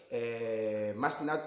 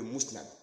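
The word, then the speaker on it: Musnad: Que le livre de Ahmad, que quand je le prononce mal, que je dis Masnad au lieu de Mousnad.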